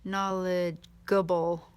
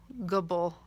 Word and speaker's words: knowledgeable: Imagine having it without the E there. Knowledgeable. Gubble, you wouldn't want that. So the E keeps it that soft, the soft G sound.